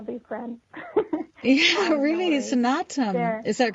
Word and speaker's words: Snatam: Yeah, really, no Snatam. There. Is that correct? But Snatam. Yeah. Oh, yeah, I really, like I apologize. Yeah, sun and autumn together, Snatam.